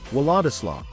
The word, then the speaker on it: Władysław: Many people mistakenly pronounce Władysław with a hard W sound instead of the soft V sound in Polish.